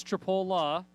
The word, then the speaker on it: Tripola: uh helping us out with the pronunciation it is tripola uh he grew up